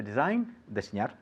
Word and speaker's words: design: To design. Very easy. With a silent G.